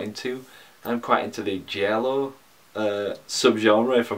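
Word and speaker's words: giallo: sub-genre I've got into I'm quite into the jello a sub-genre for pronouncing that correctly that's like the Italian thrillers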